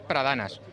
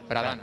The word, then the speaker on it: Pradanas: mundo lo dice mal, pero es Pradanas, sin acento en ningún lado, Pradanas. ¿Palabra llana? Eso es, Pradanas.